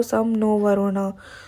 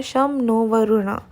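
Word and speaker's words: शं नो वरुणः: नीचे don't miss out में लिखा है, the emblem of the Indian navy contains the motto सम नो वरुणा। इसको ऐसे प्रोनाउंस करते हैं शम नो वरुणा।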